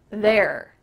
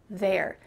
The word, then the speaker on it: they're: This is a contraction of they plus are. But she doesn't say they're. They're, this is the clear pronunciation for this contraction. In fast conversations, native speakers are just going to say they're, there. It kind of sounds like look over there, he's over there, T-H-E-R-E.